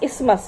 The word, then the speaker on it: isthmus: The correct pronunciation is isthmus, not isthmus. Isthmus नहीं होता है, उसको isthmus बोलते हैं.